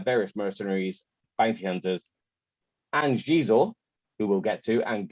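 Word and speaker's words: Xizor: For years, I thought his name was Zizor. Until the internet came along and you actually see how people's names, or hear how people's names are pronounced. I literally pronounced it wrong in my head for 10 years. So I can't guarantee I'm going to say Shizor forever.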